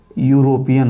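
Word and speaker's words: European: तो देखिए यूरोपियन लिखा तो है ई से, वावेल से लिखा है, लेकिन उच्चारण इसका क्या है दोस्तों, यूरोपियन होगा, अर्थात ये क्या आपका कॉन्सोनेंट है, इसलिए यहाँ पे क्या लगा देंगे, ए लगाएंगे, ठीक है।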